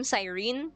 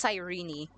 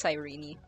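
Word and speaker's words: Cyrene: Also, I thought you pronounce her name Sirene. It's Sirene. Today I learned Well, not today, but like recently I learned it's not Sirene, it's Sirene.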